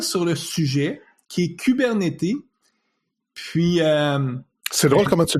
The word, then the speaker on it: Kubernetes: En anglais, on dit Kubernetes. Donc, on prononce le S à la fin.